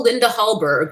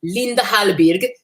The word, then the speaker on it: Linda Hallberg: Yeah, it's pretty much all Linda Hallberg, which is how we would say it, but I believe she's Swedish. It's supposed to be pronounced Linda Hallberg.